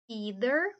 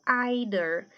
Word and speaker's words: either: só faz o sobrinho Então nesse caso esse th é o th com som de D either ou ider americano ou britânico mas